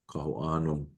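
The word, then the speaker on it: Kahoʻano: But again, I will bring up that I cannot consider any other way for the word kaho'ano to be pronounced.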